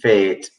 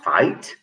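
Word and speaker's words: fête: village fundraiser would be fate it is fate please don't say fate they say it's a fate and ejected from a seat of power fate fight it's not pronounced fight use a village fine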